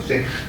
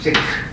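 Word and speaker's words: sec: 그래서 이거를 이니셜을 따서 이렇게 하면 세크라고 읽어. 세크. 알았지? 뭐라고 읽는다고? 세크.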